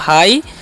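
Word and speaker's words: high: आई तो हो गया हाई ठीक है अब इसे हाई ही करना है अब यहां पर जीएच है ना उसका उन करना ही है नहीं यहां पर साइलेंट होता है ठीक है तो हाई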